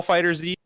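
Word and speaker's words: FighterZ: speaking of incorrect pronunciation I'm pretty sure it is Dragon Ball fighters because if you look at their history you've got Dragon Ball Z it's not [ __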